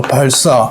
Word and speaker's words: 발사: 발사. 총을 발사하다 할 때. 시옷을 예사 소리를 된소리로 발사 이렇게 발음하잖아요. 한국 사람이 발사하다 이렇게 얘기하는 사람 없잖아요.